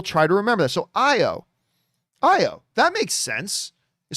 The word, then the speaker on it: Ayo: i just pronounced it ao but mary is saying it's pronounced io with no ooh sound short o rather than